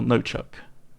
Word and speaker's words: Knock: And Knock of the UK, or No Chuck, as it's properly pronounced.